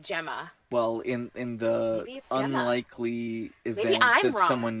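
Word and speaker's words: Gemma: will excuse me Jemma that's usually pronounced Jemma well in the unlikely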